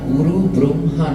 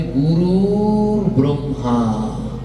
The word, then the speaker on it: গুরুর ব্রহ্মা: ওটা না গুরু ব্রহ্মা না। ওটার উচ্চারণ হবে গুরুর ব্রহ্মা।